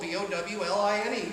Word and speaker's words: bowline: Now the nice thing about the bowline is that the bowline, it's spelled B-O-W-L-I-N-E, but it's pronounced bowline, and the reason why that's so valuable, are you going to help me out?